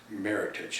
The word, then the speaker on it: Meritage: to my heart and it is pronounced meritage it sounds like heritage because it merits a